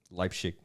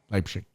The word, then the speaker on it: Leipzig: And how do you pronounce it in German? You said it earlier. Leipzig. Leipzig.